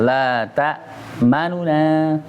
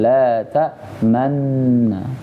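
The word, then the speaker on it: لا تأمنّا: La ta manuna. Jangan mulai dari ma-nya yang cepat. Tapi saat pengucapan nu-nya itu cepat. La ta manuna, ya. Atau dengan ismam la ta manna, lebih enak itu aja deh ismam.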